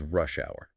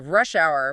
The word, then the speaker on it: rush hour: defines the problem, is rush hour. Ah, rush hour, pronounced it. Exactly. Notice that clear stress on the first part of both words.